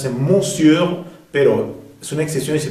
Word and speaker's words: monsieur: monsieur hein sa que monsieur une exception devrait prononcer monsieur pero son exception il se prononc monsieur un